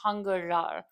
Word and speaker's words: 한글날: It's That's right. pronounced 한글날. You're going to read it as Hangul plus 날. Yeah. 날 is It's the day part.